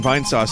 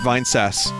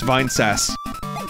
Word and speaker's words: Vinesauce: that's like people watching vine sauce and not knowing that it's pronounced vine sass it was never pronounced vine sauce it's vine sass or like people watching